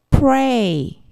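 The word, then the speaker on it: prey: 뜻입니다 st 다섯 번째 pray pray 사냥감 먹이감 희생자라는 뜻인데요 역시 R 발음이 들어가 있네요 L이 아닙니다 만약에 L 발음이라고 하면 플레이 우리가 알고 있는 플레이라는 발음이 되겠죠이 발음은 사냥감 레입니다 다시 한번 eyes of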